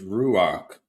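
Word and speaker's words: רוח: Holy Spirit is ruach with a kh sound.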